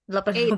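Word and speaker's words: eight: 8. 8.15. GH-nya nggak usah dibaca.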